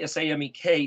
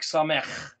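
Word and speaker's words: Samekh: kind of also a, like the word samek, we might say S-A-M-E-K, samek, but it's more like samech. Well, you'd think that if it was Samech, it would be a het at the end, but it's not.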